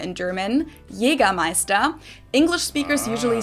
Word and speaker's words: Jägermeister: From shoes to alcohol, this is pronounced Jägermeister in German, Jägermeister. English speakers usually say Jägermeister, which is pretty much the same, just with a pretty thick accent.